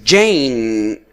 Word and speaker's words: Jane: The same case, Jane we do not pronounce the E.